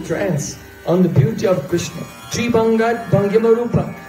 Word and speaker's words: Krishna: You know, Krishna is very difficult to say. Krishna say a ka, and then a ra. And then a shh. So if you're very emotional, it's hard to pronounce Krishna.